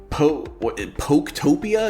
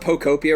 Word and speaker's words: Pokopia: So Dylan has drafted Poketopia? Is that how it's pronounced? It's Pokemon Pokopia or something like that.